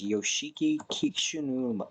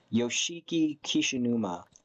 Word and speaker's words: Yoshiki Kishinuma: And the guy's name is Yoshiki Kishinuma, or fuck, I butchered that trying to pronounce it. Yoshiki Kishinuma.